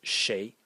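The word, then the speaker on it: 谁: The third character in this series is pronounced shay. And again, a very abstract character. It means who.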